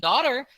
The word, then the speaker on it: daughter: always rhyme with bout and daughter leave the gh out wear a boot upon